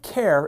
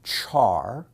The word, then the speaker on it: char: properties of character values in Java the type care is a primitive type like int Boolean and double some people pronounce it Char some people pronounce it car and some people